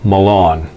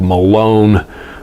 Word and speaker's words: Mallon: pronounce it more like malone but it's spelled like melon as in melon bank except for with an a instead of an e in the first syllable um she is better